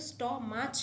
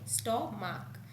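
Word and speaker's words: stomach: এসটি ও এম এ সি এইচ এটা কিন্তু স্টমাচ নয় স্টমাক এক্ষেত্রে শুধু দেখো এস যুক্ত করে প্লুরাল করা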